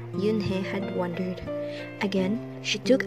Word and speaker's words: Unhei: chanted no no corrected it's spelled u-n-h-e-i it's pronounced yunhei oh it's you hey